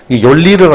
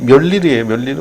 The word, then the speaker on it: Mjolnir: 열리르가 아닌데 멸리르 발음이 열리르가 아니고 멸리 이렇게.